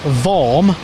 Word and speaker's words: Vorm: I have always said that it was Vorm and not Worm, as everybody said. Yeah, it's correct. It's the German pronunciation of the name. There's a city called Worms in Germany, which is where the name comes from. Glad we cleared that up